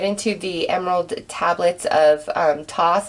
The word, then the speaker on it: Thoth: emerald tablets of Thoth, and that's how I say his name. I know it's pronounced a lot of different ways, but that's how I say it. It just feels good to say it that way.